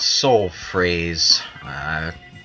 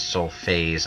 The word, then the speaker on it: Soul Phrase: persona 3 portable Wow it's called soul phrase commonly mispronounced as soul phase I'm not really sure